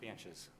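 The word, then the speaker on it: Bantjes: Banches. You spell that?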